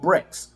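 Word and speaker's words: Brex: to do that it's called BRICS think I'm pronouncing it right be re X Bravo Romeo echo X ray Brinks okay now a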